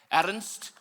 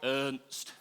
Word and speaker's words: Ernst: He's from South Africa and it's actually pronounced Ernst. But when you live in Bolton, you just go Ernst.